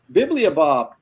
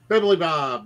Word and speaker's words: Bibilibob: Bibliobob. Okay. Will you say that for me, Kelsey? Bibilibob.